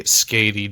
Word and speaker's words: Skadi: I could be, but that's how you say it in Norse mythology, so we're going to say Skady just for the sake of having it sound like the Norse goddess.